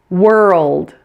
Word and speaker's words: world: pronounce and it is world this may be the hardest common word for many non-native speakers it's really similar to girl it has exactly the same two issues with the ER and the L